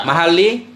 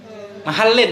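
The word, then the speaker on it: محلّ: mahali mahallin bacanya mahallin majrur dengan tanda jar Asra. khasin naik kepada mahallin naik ikut man'un naik kepada majrur tanda jar. Nah, makanya nggak boleh kita baca mahali kan.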